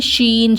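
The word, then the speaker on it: شين: இந்த மாதிரி ஞாபகம் வச்சுக்கிருங்க இது வந்து ஷீன் இத எப்படி ஞாபகம் வச்சுக்கிலாம்னா இதுக்கு வந்து நம்ம யாரையாவது அமைதியா இருக்கறதுக்காக சொல்லுவோம்ல ஷோ இந்த மாதிரி சவுண்ட் வச்சிட்டு ஷீன் ஷீ ஷீன் ஓகேவா அப்படின்னா எஸ்ஹ இ ஷி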